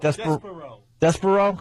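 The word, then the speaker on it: Despereaux: The Tale of Despero... How do say that? Despero! Because they spell it D-E S P E R E A U X Well what is THAT about?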